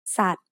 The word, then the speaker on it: สัตว์: Then, at the end of the word is the letter วอแหวน with การัน written above it. This means วอแหวน doesn't make any sound in this word.